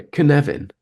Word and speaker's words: Cynefin: looks like it says copin orop something like that yeah but you pronounce it it's it's like Kevin but you've got a little sort stutter so you go canevin and that's that's the